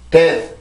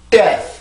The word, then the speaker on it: death: 그냥 death 이게 아니라 death 이렇게 발음을 해주고 아무리 빨리 된다고 해도 death 이렇게 발음이 되어야 돼요. 이렇게 되지 않으면 영어는 틀린 발음이 됩니다.